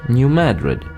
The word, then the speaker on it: New Madrid: Cairo but rather Cairo New Madrid is obviously named for the Spanish capital but it's pronounced New Madrid Versailles is not Versailles